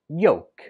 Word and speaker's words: yolk: When we spell it, we write it with an L, but when we speak it, we do not pronounce the L at all. It's just pronounced yolk.